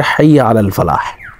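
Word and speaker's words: حي على الفلاح: এরপরে হচ্ছে হাইয়া আলাল ফালাহ। এরপরে হাইয়া আলাল ফালাহ, লাস্টে হার উচ্চারণটা করতে হবে।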